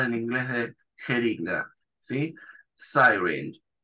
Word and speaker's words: syringe: Syringe. Esa Y se pronuncia como el diptongo I, syringe, ¿sí? La E no se pronuncia al final.